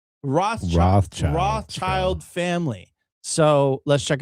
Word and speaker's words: Rothschild: Rothschild.